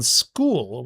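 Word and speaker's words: Skool: And again, I don't want to promise anything, but I was thinking about um starting on school, which is spelled S K O L about AI video.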